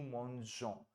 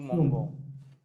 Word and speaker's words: mangeons: nu वाला form में, so that it gets you the sound of nous mangeons. If you don't put that, that gets the sound nous mangons, right?